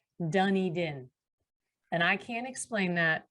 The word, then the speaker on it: Dunedin: town of spelled like dunedin is actually said pronounced dunny din and i can't explain that but that's apparently